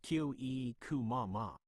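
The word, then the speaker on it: kyōiku mama: Kyokamama is a Japanese term pronounced kyo-e-ku-ma-ma.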